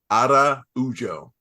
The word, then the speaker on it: Araujo: I know it's the Viviane Araujo.